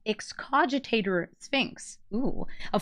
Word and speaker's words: Excogitate: It's Excogitate Sphinx.